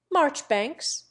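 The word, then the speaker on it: Marjoribanks: John Poole for Powell Weems for WHMIS cardigan for Cadogan Mowbray for Marlboro key for Keynes Marchbanks for majora banks Beecham for Beauchamp Chumlee for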